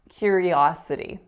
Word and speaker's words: curiosity: on that first syllable the third word that I stressed incorrect incorrectly was the word curiosity where I made the e really strong when in fact the second syllable the third syllable excuse me should be strong curiosity curiosity and then our fourth